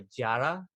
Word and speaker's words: Yara: I've already mentioned it once this episode, but there's a queen called Yara Sofia. And she, it's spelled Yara, but it's like a Jara.